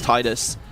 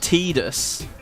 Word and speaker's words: Tidus: And so for me, it was always Titus. Eventually, like, I think in the Kingdom Hearts series was when it first actually appeared, voice acted. They called it Tidus.